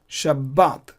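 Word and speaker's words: שבת: But I'm pronouncing B double, like I'm doubling the B just like as in English. Sabbath, Sabbath. But two B's are there. Similarly, we pronounce in Hebrew Shabbat because of the Dagesh.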